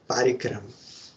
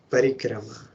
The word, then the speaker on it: Parikrama: Not Parikrama. Parikrama is proper pronunciation.